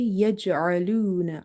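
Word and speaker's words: يجعلون: If we say it yaj'aluna like alif, then the meaning will change because we will fall into lahne jali, the mistakes which can change the meaning of the Quranic words. So you have to say yaj'aluna, arluna, arluna. From the middle of the throat, you have to make this sound.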